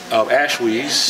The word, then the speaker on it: Ashweez: have our esteemed guest here, I'm going to pronounce it right, Ashweez.